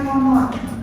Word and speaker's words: common: Nah, yang pertama adalah common, ya, tulisannya common, bacanya common, ya. Kalau dalam bahasa Inggris kalian menemukan double konsonan jejer, maka cukup dibaca single common, nggak usah common, nggak usah penekanan di bahasa.